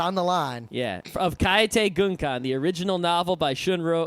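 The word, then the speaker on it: Kaitei Gunkan: Kaete Gunkan.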